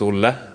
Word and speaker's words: Olle: introduction of myself first my name is orla or you call me ollie if that's easier to pronounce from Sweden and today